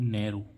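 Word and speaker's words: narrow: अब देखें इसमें NERROW, नैरो, नैरो, लास्ट में क्या आ रहा है, OW, तो इसका उच्चारण क्या होगा, ओ, यानी कि नैरो।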